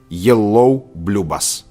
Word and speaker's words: Я люблю вас: Англоязычные люди используют словосочетание жёлто-голубой автобус, чтобы запомнить, как произносится на русском языке фраза "Я люблю вас" - yellow blue bus.